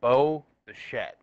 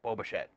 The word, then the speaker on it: Bo Bichette: right his name is Bo the shed but sometimes when the announcers say his name it kind of sounds like you're saying like that it's like one giant word where it's like Bo Bichette and I'm like geez